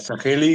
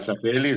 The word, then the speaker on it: Sageli: Hola, Sageli. ¿Está bien dicho? ¿Está bien pronunciado así? Sí, así es. Así. ¿Qué tal, Sageli?